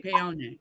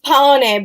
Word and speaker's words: Paone: I say Paone. It's Paone, but it's Paone because America. It's a Bayonne. It's Paone because of America.